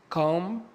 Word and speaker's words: comb: حرف الـ B لو جه في نهاية الكلمة وقبليه حرف الـ M، حرف الـ B لا ينطق. ناخد الأمثلة. comb، lamb، tom، climb.